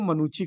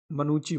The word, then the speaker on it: Manucci: देखो, इसको प्रोनाउंसिएट जो करते हैं वो मनुची करते हैं, ठीक है। मनुची बोलते हैं इसको, मनुची। ठीक, भले MANUCCI लिखते हैं, लेकिन प्रोनाउंसिएट क्या करते हैं? मनुची।